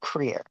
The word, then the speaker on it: Krier: Hi, I'm sorry my last name is pronounced Krier. Krier? Pardon me. I should've been-- It's okay I'm not the town crier, but I will be